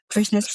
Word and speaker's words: Fresnes: Fresnes Prison? I think it's Fresnes. Yep. Fresnes. Yeah. See, I'm pronouncing that like a Norwegian rather than a